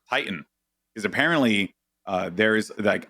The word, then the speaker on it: Titan: Webster actually is like Titan is how they pronounce it on Webster's it's kind of light weird yeah I just say Titan like tight and you know that's how I say it and peep but dude